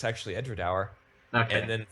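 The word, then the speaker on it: Edradour: I pronoun incorrectly in the first place I pronounced it as edor and it's actually edra okay and then like it's like the smallest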